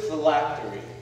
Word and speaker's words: phylactery: a beautiful country miss parks the word is phylactery phylactery am i pronouncing that correctly yes thank you my higher